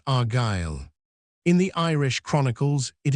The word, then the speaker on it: Argyle: or region of Gaul which means sons of God and is pronounced Argyle.